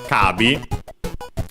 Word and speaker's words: カービィ: Kabi Kirby of course simply pronounced in Japanese because they don't have the h sound and so it becomes long a uh the possessive particle